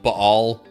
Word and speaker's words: Baal: terms of worship of Baal, which you might also hear pronounced Baal, but in order for it to flow smoothly when I'm saying it, just Baal works better.